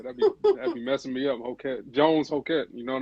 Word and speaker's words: Hokett: name is Hokett. Hokett. All right. Yeah, that'd be messing me up. Hokett.